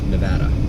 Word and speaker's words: Nevada: there Nevada Southern Nevada I was told it's pronounced like Nebraska Nevada it's just a matter of trying to remember